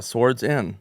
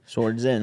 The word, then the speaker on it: Swardson: Yeah, swords in. Swardson.